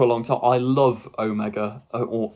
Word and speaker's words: Omega: long time I love Omega or Omega I always get told off in the comments because I say it like the American way Omega but Omega that's how they say it in the story I don't know why